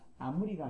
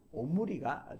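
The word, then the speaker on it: עמרי: 그래서 아무리가 아니라 오무리가 되는 겁니다.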